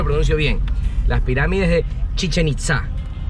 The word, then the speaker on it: Chichén Itzá: a buscar el tesoro de los mayas de chichén itzá así se pronuncia sin chistar amarilla vaca y que tal